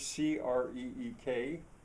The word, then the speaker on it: creek: And what I mean by that is uh that word c r e e k, well, uh in our informal dialect, friendly dialect, we we'd call that a crick. But uh you know, uh other people can't they they can't get past the idea that there's anything other than the prestige dialect. And uh they said, "Look at the way it's spelled." Uh uh with the double e, it ought to be creek.